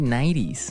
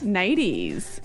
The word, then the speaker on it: nighties: One type of sleepwear is silky '90s. 90s.